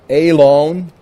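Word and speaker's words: אֵלוֹן: The word Elon is how it's pronounced, means oak.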